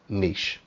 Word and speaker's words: niche: now come on guys i know i'm british and everything but the right pronunciation is niche anyway so this would